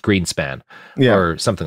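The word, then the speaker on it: Grynszpan: the green spots uh g-r-y-n-s-z-p-a-n-s I think it's pronounced Greenspan yeah or something like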